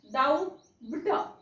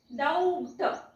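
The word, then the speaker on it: doubt: उच्चार करतो म्हणजेच डाऊ ड डाऊ बट असा काहीसा उच्चार आपण करतो परंतु हा उच्चार असा होत नाही आपण असा उच्चार करतो का याचा दाऊट ब घेऊन ट वाचतो का आपण तर नाही तर याचा उच्चार आपण असा वाचत नाही तर याचा उच्चार आपण वाचतो दाऊ ट म्हणजे यातला बी जो आहे त्याचा उच्चार आपण वाचत नाही म्हणजे बी हा जो शब्द आहे तो इथे झोपलेला असतो आमच्या टीचर होत्या तर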